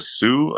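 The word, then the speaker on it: Sioux: uncle he was um from the Sue I think it's how you pronounce it tribe he was Native American uh it's a s i o u x am I I you guys know if I'm saying that right that's right s great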